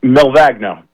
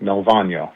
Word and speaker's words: Malvagno: Um, Malvagno. Well, that's the the Americanized way. In in Italy, they the G is silent, Malvagno.